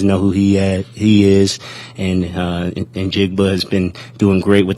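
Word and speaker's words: Njigba: Of course, the receivers are the strength of their team with DK and Lockett and Jigba, right?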